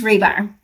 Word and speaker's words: Hribar: last name right it's rebar okay do a lot of people butcher it oh yes you actually did pretty good so and the H is silent right I mean there's